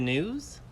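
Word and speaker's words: gnu: talk about wildebeest also sometimes called good news or sometimes called new depending on how you pronounce it I'm gonna refer to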